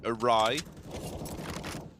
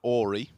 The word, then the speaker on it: awry: have to go really awry i used to think you pronounced that orie why all right so